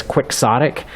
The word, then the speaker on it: quixotic: why it ends up in English pronounced as quixotic and why that's in fact the proper English language pronunciation of the word even though you'd think